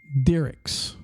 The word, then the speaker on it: Diericx: Now, in the investigation, the driver's name, this is a semi-truck driver, okay, his name is Dylan Diericks, and it's spelled, Diericx.